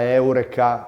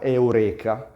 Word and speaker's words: eureka: Gerone Ma secondo voi perché oggi pronunciamo la parola Eureka Eureka questo accade perché l'italiano segue le regole della lingua latina che vogliono l'accento sulla penultima sillaba se la vocale è lunga se ci trovassimo Dunque